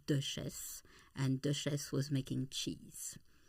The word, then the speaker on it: Chisholm: Just before we started, uh, I called you Shislom, but I was I was totally totally wrong and you corrected me and say my name is cheese.